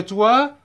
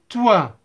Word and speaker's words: toit: Le toit. Le O, I se prononce wa.